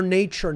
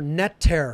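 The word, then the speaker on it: neter: TCH nature that's how it was actually pronounced in ancient Egypt nature so think about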